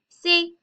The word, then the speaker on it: sait: These sound the same. Je sais, tu sais, il, elle, sait. Because obviously the S and the T are silent, so they're going to sound the same.